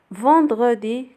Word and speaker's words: vendredi: vendredi كتكتب EN ولكن كيتنطقوا on.